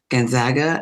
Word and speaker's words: Gonzaga: senior at Saugus, and she is headed to Gonzaga, and she reminds me of the pronunciation often.